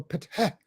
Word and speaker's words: Ptah: That is the H for patah, patah. Okay, we put the A in there in order to make it easy for people to pronounce it, but it's PTH, patah, patah, patah.